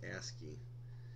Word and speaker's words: ASCII: American Standard Code for information interchange and that's pronounced ASCII and we use ASCII quite a bit here